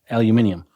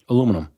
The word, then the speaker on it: aluminium: Aluminium. That's what I got. Is that how you say it? Aluminium. I think that's how they say in the UK. Aluminium. How do you say it? Aluminum.